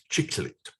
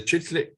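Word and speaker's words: chicle: with him into exile an enormous lump of chicklet that is uh my pronunciation is sometimes terrible but that is c-h-i-c-l-e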